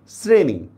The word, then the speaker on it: শ্রেণী: যেমন দেখেন লিখছি আমি তালব্যস্য দিয়া, হিসাব মতে এটার উচ্চারণ হওয়া দরকার ছিল শ্রেণী, আমরা উচ্চারণ করতেছি কি শ্রেণী, দেখছেন?